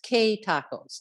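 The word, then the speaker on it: Que Tacos: new hope bowl and it's q-u-e tacos and i've been informed that that's pronounced k tacos okay so they are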